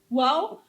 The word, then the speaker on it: Wow: tadi juga kan disebutkan di profil Pak Jimmy ada sebagai founder Wow Ministry. Wow Ministry ya? benar. Sebentar, apa betul sebutannya Wow ya? Bacanya benar wow.